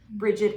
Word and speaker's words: Brigid: But like I'm pronouncing Brigid, but I guess it could be Brid. Like, there's lots of different ways to pronounce it, but she's a